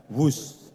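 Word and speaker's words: Whoosh: operasi optimal sistem hebat sekali lagi b h o o s h tapi membacanya wus dan Dengan mengucap Bismillahirrahmanirrahim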